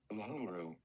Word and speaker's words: Uhuru: Pronunciation. Thank you. Uhuru.